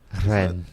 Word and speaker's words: Rennes: Could you pronounce that again? That's not how you say it, Tony. Rennes. There we go. Yeah, there we roll go. your R's.